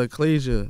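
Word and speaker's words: achalasia: are you suffering from a medical condition called eclasia how you pronounce it yeah it's called ecclesia i don't even know how to spell it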